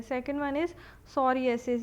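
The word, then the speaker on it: psoriasis: Second one इज़ सोरियासिस। ये जो सोरियासिस है इसका पी जो है वो साइलेंट है।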